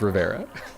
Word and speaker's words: Rivera: Riviera is like my second last name. Very last name. It's just Rivera.